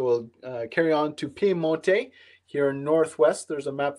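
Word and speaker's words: Piemonte: english so that might be the english uh pronunciation pimote is the italian and pier mole spelt the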